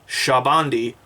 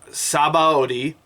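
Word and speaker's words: Sabaody: it right this time shabandi not sabaoti like it's printed in english for some [ __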